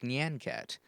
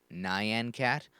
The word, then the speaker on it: Nyan Cat: And yes, it is pronounced Nyan Cat, not Nyan Cat, or as some crazy people pronounce it, Neon Cat.